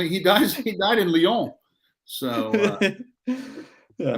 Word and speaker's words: Lyon: dies he died in lyon so yeah i bet you didn't know it's pronounced leon no no no no not